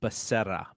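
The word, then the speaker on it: Becerra: at r I believe the way he pronounced his last name is Basera b-e-c-e-r-r-a uh 21 on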